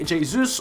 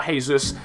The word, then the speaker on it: Jesus: for PSG and finally Gabby Jesus or Jesus I've been told it's pronounced not hazus is still playing for